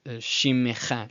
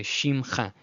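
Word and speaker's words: שִׁמְךָ: So Professor Garber taught me about this word, shimecha, shimecha, shimecha, shimecha. He said that today, no one is going to make that distinction. He said today he can show you on his fingers on one hand how many people would actually notice that it's shimecha. No, he says people in Israel today, they're just going to say shimcha, shimcha.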